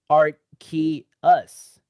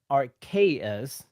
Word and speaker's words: Arceus: we've got a grav who says art key us i think our ks is also correct like archaic uh or like uh